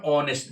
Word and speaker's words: honest: But honest begins with H. But the sound is O in Hindi. O honest. H O N S T. As the sound is of O which is in Hindi which is a vowel sound.